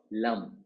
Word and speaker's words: Lam: a m Lam now the lam Mantra when you write l a m l and you try to pronounce l so you are closing your lip and the ma sound ma is nothing but Mar or Bram but ideally we should not close the lip when you chant a mantra of any